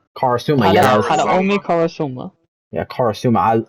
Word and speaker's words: Karasuma: I ship her with how you pronounce his name? Karasuma. Karasuma.